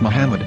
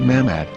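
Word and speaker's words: מחמד: yehuda's hebrew english dictionary it is correctly pronounced as muhammad not mahmad so how we're going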